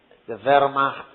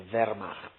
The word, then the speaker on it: Wehrmacht: When Hitler or the German forces or the Wehrmacht is the German name for the German army, the Wehrmacht. Wehrmacht is spelled W-E-H-R, Wehrmacht, M-A-C-H-T, is German.